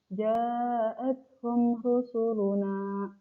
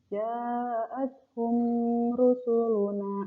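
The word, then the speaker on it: جَاءَتْهُمْ رُسُلُنَا: Dari mim ke ro itu langsung gitu. Ja'athum rusuluna. Jangan ditahan-tahan mimnya. Ja'athum rusuluna. Nah, itu belum tepat.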